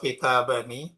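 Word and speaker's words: كتابانِ: Dan ini cara bacanya kalau kitabani, nunnya kasroh, kalau jamak kitabuna.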